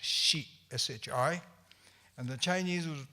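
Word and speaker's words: 士: That is also read samurai, but also it's in the Japanese pronunciation, which inspires by the original Chinese, is pronounced shi, S-H-I, and the Chinese would pronounce this shur, S-H-I-H, shur.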